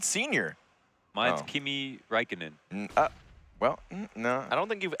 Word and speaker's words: Räikkönen: How do you pronounce it? Räikkönen. A little bit more twang in it.